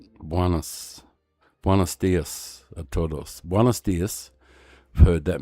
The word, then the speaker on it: todos: Wonder if the S is silent. No, the S isn't silent.